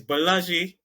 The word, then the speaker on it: Balaji: to be fair to these marketers, Balaji, I'm pausing because is Balaji is how it's pronounced.